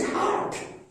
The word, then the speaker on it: hurt: मैं बहुत सारे बच्चों को देखता हूं हर्ट और हार्ट HEART दिल दोनों के उच्चारण में गलती करते हैं, तो उसको सावधानी से उच्चारण कीजिएगा।